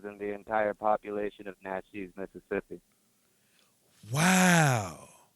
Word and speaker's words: Natchez: I mean, it's Natchez, though. It's Natchez, Mississippi. Coach Evans say pronounce it right, homeboy. It's because Coach Evans coached me back in Natchez. It's Natchez, but damn, that's wild though, man.